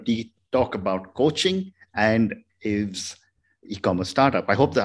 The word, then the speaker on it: Ave: And today we're going to talk about coaching and Ave's e-commerce startup. I hope that I have the pronunciation of your name correct.